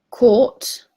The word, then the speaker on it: court: Now we go through the first one, and as I just said, if the next sound after R is a consonant sound, then you do not pronounce R and you make previous vowel longer.